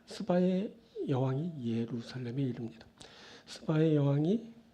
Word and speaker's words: 스바: 먼저 살필 것은 스바의 여왕이 만난 하나님입니다. 이것은 말씀을 통해 만난 하나님을 말합니다. 자, 스바의 여왕이라 할 때 스바, 세바라고 읽게 되는 말인데 이것은 나라를 말합니다. 시바라고도 불리는 스바는 아라비아 반도